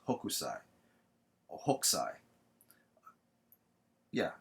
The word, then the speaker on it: Hokusai: If I'm not mistaking his name, it's Hokusai or Hokusai. Yeah, it's Hokusai. All right, like in English you say Hokusai, but I'm pretty sure in the Japanese it's Hokusai.